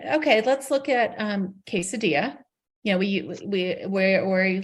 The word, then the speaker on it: quesadilla: we know that the the double L's are pronounced kind of kind of like a soft y but it's been a